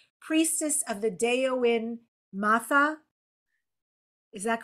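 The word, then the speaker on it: Daoine Maithe: Priestess of the Deoin Matha. Is that correct? Deoin Matha. It's Irish. And I know Irish is very different for English speakers to look at, because it has different grammar and pronunciation rules.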